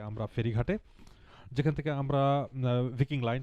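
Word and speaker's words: Viking Line: আমি ভিকিং লাইন choose করেছিলাম, sheep ভিকিং লাইন, বা এখানে আপনারা ভাইকিং লাইনও বলতে পারেন।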